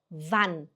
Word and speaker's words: wann: Wann, wann, wann, wann, e quando vocês verem duas consoantes juntas, você tem que pronunciar ela rápida. No caso, a vogal pronuncia rápida, né?